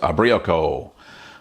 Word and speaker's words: Ubriaco: Brie are our echo I think I say you're pronounced abrió Kol there you go that's